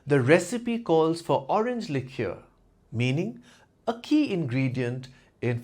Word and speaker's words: liqueur: alcohol World example one she sipped a cherry lure after dinner meaning a sweet flavored alcoholic drink example two the recipe calls for orange lure meaning a key ingredient in fancy cocktails example